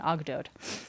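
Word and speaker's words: Ogdoad: story that's centered around eight Gods called the ogod OG d o a d and I looked up the pronunciation that's pretty much what they think it's uh what the consensus is for pronunciation ogot so Amun was one of these eight gods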